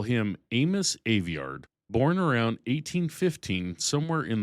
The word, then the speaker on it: Aveyard: Aveyard, by the way, that's Aveyard, not Aveyard, the way it looks on the page. It's a real Yorkshire surname, most consecrated around Dewsbury and Wakefield, and the dialect pronunciation is documented in an actual scholarly surname dictionary, which is more